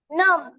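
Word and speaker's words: numb: म्हणजे फांदी खोडकर बालक एन यू एम बी नम बदीर संवेदन संवेदन शून्य पी एल यू एम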